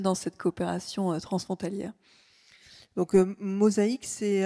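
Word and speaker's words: MosaHYc: MOSA hydrogène. Mosaïque. Mosaïque. Bah oui, mosaïque. Ouais, évidemment. simplement. Mosaïque. Voilà. Alors, de quoi s'agit-il et peut-être quelques exemples de ce qui fonctionne dans cette coopération transfrontalière. Donc Mosaïque, c'est à ma connaissance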